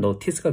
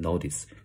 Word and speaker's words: notice: 이렇게 하면 되겠죠 그죠 티 발음을 하면 노티스가 되는 거고요 티 발음을 하지 않으면 노스 약한 발음 해 주시면 됩니다 미국식 발음은 약간 D 발음 말하면 노디스 돼요 자 지각동사 종료는 이렇게